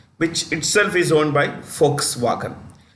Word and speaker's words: Volkswagen: Okay, Audi, which itself is owned by Volkswagen. The V is pronounced with an F.